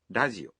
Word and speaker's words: ラジオ: Also note that the R in radio is pronounced somewhere between an R and an L sound.